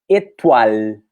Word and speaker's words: étoile: vai incluindo o elian tem o e com acento agudo e o som do e vai ser fechado vai ser um som e tenho oi e vai se transformar em o ar hum e tem o é do final que não é pronunciado e tem o l que é um ali no dente então como a gente pronuncia a estrela em francês é étoile e tatuar o wi-fi